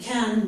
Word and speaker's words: can: So what I have here, when not followed by verb, can, or it can be a or a it. So the vowel can have either pronunciation, okay?